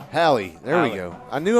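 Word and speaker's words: Halle: Did I say it wrong again this time? Hallie.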